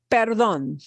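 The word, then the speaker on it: perdón: kind of like that it's like saying pardon me perdon perdon and notice that with perdon again you're punching that uh at the end more than the other syllable is also excuse me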